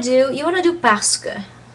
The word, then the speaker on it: parce que: You want to do parce que. Parce que.